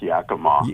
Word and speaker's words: Yakima: How do you pronounce that city? I always forget. That's why I didn't say the name of the city. It's Yakima. Yakima. Okay.